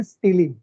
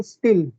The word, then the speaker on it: stele: उसको हम कहते हैं स्टीली, मध्य रम। परिचक्र અને તેના દ્વારા ઘેરાયેલી રચનાને કહેવાય છે મધ્ય રમ। ક્લિયર, स्टीली, STELE या तो स्टिल, मैं उसको प्रोनाउंस करूंगा स्टीली।